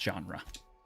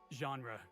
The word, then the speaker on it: genre: think not K yep yep jry Felix it's pronounced genre genre right thanks I read that word in a